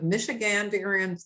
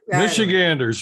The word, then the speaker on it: Michiganders: of the president of Michiganderians. I never can say that. Why do you do that? Michiganderians for Fair and Transparent Election. It's Ganders. Michiganders, real easy. Michiganders. I've got a couple extra syllables there.